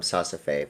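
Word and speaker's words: Saas-Fee: They're gonna, It's pronounced Sasafe, by the way.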